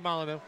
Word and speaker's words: Molyneux: that's how you pronounce his name. Peter Molyneux.